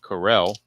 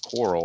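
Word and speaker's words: Correll: And that brings up the catcher Vic Carell or Coral. I think it's pronounced Carell.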